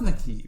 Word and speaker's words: Naquib: It's pronounced Nakib.